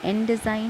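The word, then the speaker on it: endexine: ठीक है, एक्टेजाइन और एंडेजाइन भी ऑन द बेसिस ऑफ, ये जो एंडेजाइन है ये एंडेजाइन इसका प्रोनाउंसिएशन है।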